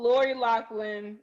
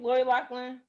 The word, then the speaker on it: Lori Loughlin: So y'all know Lori Loughlin. Is that how you say her name? Lori Loughlin? Oh, Portia, you Lori Loughlin, yeah.